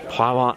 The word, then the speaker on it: Provins: When you get to the town of Provins, the modern town, I don't think there's an S on there. I think the S is silent. Provins.